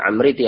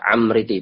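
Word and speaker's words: العمريطي: Ada yang bacanya Amriti, ada yang Amriti, bahkan ada yang Umriti juga. Dibaca ada fathah, ada yang membaca kasroh, ada yang membaca dhammah. Ini yang benar yang mana? Ini ada perbedaan pendapat. Ini ada menurut Imam Az-Zirikli dalam sebuah kitab ya, pelafalan yang benar itu adalah Amriti pakai fathah.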